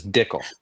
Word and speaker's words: Dickel: It's Dickel. It sounds like tickle, but it's different. It's spelled different for sure.